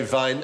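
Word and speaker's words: Wein: to say Vine but the Germans say Vine and spell it with the w ah so why is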